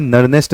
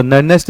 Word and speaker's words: Nernst: तो आज हम पढ़ने वाले हैं नरनेस्ट समीकरण।